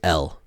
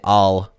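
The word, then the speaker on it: אל: I mean, it's undisputed that the Aleph Lamed is El. Some say Al.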